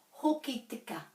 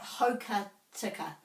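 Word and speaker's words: Hokitika: And this one I'm very hot on, Hoki tika. It's not hoka tika.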